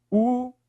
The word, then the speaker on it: últimos: Últimos. Qual é a sílaba mais forte? Professor, é o U aqui, ó.